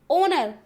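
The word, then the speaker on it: honour: ही हो रहा है, लेकिन इसकी भी प्रोनाउंसिएशन क्या है, ओनर।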